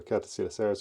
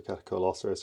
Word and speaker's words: Catacoeloceras: So Catacoeloceras or Catacoeloceras, depending on your pronunciation preference.